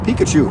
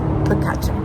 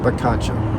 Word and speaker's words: Picacho: And I also used to say Pikachu. Pikachu Peak. It's Picacho. Picacho.